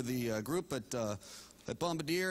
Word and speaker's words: Bombardier: you here for the bombardi conference you mean the Bombardier conference that's what I said bombardi well it's actually pronounced Bombardier well if you want